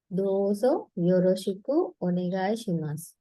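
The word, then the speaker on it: どうぞよろしくおねがいします: මේක words තුනක් විදිහට pronounce කරන්න පුළුවන්. dozo, yoroshiku, onegai shimasu. dozo, yoroshiku, onegai shimasu.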